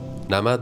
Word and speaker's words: نمد: "Namad" (felt) is a Pahlavi word, originally pronounced "Namat".